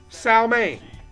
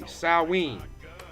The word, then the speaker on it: Salween: He has a candy apple that's called, I always get this wrong, Salmaine. Salween. Excuse me, Salween. It's spelled differently than you say it.